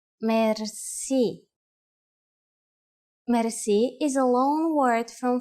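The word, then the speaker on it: мерси: you will be amazed which word that is Mery mer Meri is a long word from French but it is pronounced with a typical Bulgarian heart are R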